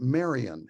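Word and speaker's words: Maryon: the time it was a park named Marion and if you want to look it up it's spelled m-a-r-y-o-n it's near Greenwich and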